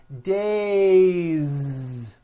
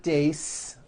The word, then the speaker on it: days: one day or two days it's not days on voice it's days with a voiced Z and next one shoe